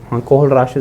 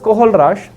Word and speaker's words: Kohlrausch: वास कोहल राश चलिए सो इट was actually spelling है ये के ओ एच एल आर ए यू एस सी एच कोहल राश ला ठीक है सो इट वाज कोहल राश ठीक है जिसने strong electrolyte strong electrolyte strong